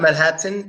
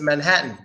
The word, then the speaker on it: Manhattan: about the Double T A lot of times a Double T is silent when it comes to an N at the end of the word for example silent te that's not kitten it's kitten that's not Manhattan it's Manhattan Manhattan kitten Manhattan both quiet